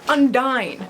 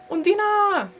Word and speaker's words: Undine: And I was saying Undine because that's how I thought it was pronounced until I watched the movie and then I realized it's Undina. They don't say it like that, but I did, and that's kind of how it's pronounced. It's not Undine.